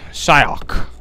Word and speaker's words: Xiaokk: on Shak I know I know Asians pronounce their XI is shy it said like how Americans would do like like make like a q noise if that makes any sense but it's Shak anyway shyak already mixing things